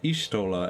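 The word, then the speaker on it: Y'shtola: I swear her name used to be pronounced Ishtola, and now it's Y'ashtola? They just keep changing the pronunciations The on me.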